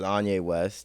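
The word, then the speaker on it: Onye West: See, I have the opposite problem because my Instagram is Anye West. That's ONYEWEST. It rhymes.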